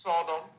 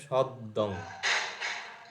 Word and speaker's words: সদ্দং: কীর্তি তো উচ্চারণ করতে পারছো, হ্যাঁ ছয়ে ছয়ে আছে মানে কীর্তিস সদ, না সদং নয়, সদ্দং, সদ্দং, দয় রয়ে আছে, আচ্ছা, কীর্তিস সদ্দং।